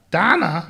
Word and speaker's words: Dana: I would greatly appreciate a shout out to my lovely wife, Dana. Donna. Yes. Pronounced Donna.